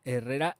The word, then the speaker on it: Herrera: La nueva Good Girl de Carolina Herrera, que no Herrera o la mierda esta que dicen así en plan americano, es Carolina Herrera de toda la vida.